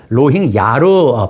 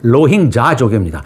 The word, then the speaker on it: 로힝야: 우리나라 언론은 이것을 로힝야로 발음을 하는데 로힝야는 틀렸고요. YA로 쓰기는 합니다만은 현지 발음은 Y 발음이 J 발음이 나거든요. 정확한 발음은 로힝자족입니다.